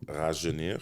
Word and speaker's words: Rajeunir: It's called Rajeunir.